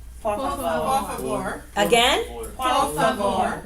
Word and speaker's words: por favor: Por favor. What did I say with those R? Por favor. Right. Por favor. You hear the rolling? Yes. Okay, so we pronounce it clearly.